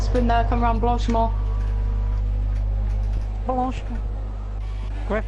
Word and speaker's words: Blanchimont: Blanchimont. Great pronunciation, I've got to say.